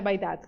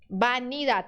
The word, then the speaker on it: vanidad: Tá errado, não é vaidade. O que tá errado aqui? Vanidade, tem um N, tá?